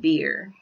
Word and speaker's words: Beer: travel to beer yes i said beer spelled the same way beer means well which